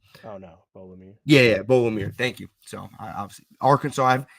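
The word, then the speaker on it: Beaux: I don't know if you pronounce the X at the end of his name. I don't think you do. Oh no, Bolomir. Yeah, Bo Limmer.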